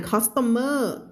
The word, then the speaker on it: customer: a jacket customers ไม่อ่าน customer customer stress อยู่ตรงไหน customer เห็นไหม customer a reminder that even